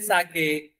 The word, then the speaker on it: sake: I get a little sake for my poor old father. And this sake is nothing but a poor, popular Japanese drink. Sa, as is pronounced as fa, father, and K rhymes with way.